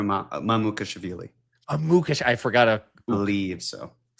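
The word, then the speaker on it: Mamukelashvili: It's not Mamushvili, is it? It's close. Is it close? It's close. I believe it's Sandro Mamukashvili.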